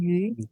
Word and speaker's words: 鱼: Su pronunciación, yu, Como a pronúncia é radical yu e y tem um 8 radical.